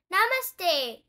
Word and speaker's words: namaste: Namaste, they repeat and slowly bow towards Miss Rabbit. How to pronounce namaste?